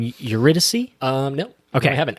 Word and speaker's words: Eurydice: About pronouncing her name? Eurydice. Eurydice.